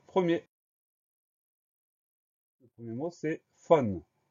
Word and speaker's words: faune: Première syllabe fa, on va l'écrire FAU, donc le son A s'écrit AU. Deuxième syllabe ne, on va l'écrire tout simplement NE, donc on fait simplement attention à ce son A qui s'écrit AU, faune, FAUNE. Le mot faune est un nom commun.